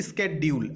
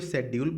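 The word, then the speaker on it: schedule: लिखा हुआ है कि हेक्टिक स्केड्यूल। अच्छा देखिए, कुछ लोग इसको शेड्यूल पढ़ते हैं और कुछ लोग स्केड्यूल पढ़ते हैं, दोनों प्रोनाउंसिएशन सही है।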